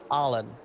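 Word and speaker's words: Allin: it's spelled like all in a-l-l-i-n but it's pronounced like a-h-h okay okay allen allen allen the elf may be half elf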